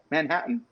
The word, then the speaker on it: Manhattan: We don't say the T's out here in the West, just so everybody knows. No T's. T's do not exist.